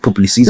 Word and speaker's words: Publicis: Yeah, we call it Publicis. They pronounce it publicist.